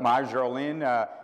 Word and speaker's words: Marjolein: And today I met, and you'll hear from her later, I still have difficulty pronouncing her name because the R is silent, but Marjolein, she's from the Netherlands,